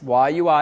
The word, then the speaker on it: YUI: always want to say yui because it's quicker but why you is how they like to pronounce it and yui has a